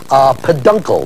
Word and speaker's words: peduncle: I paid my uncle, paid uncle, peduncle, if you say it quickly, not with money, but with flower stalks.